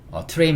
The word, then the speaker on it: train: 발음할 때 T와 R이 이렇게 붙어 있잖아요. T와 R이 붙은 TR 이중 모음이 좀 많아요. train 말고도 TR 이중 모음이 많은데, TR 이중 모음일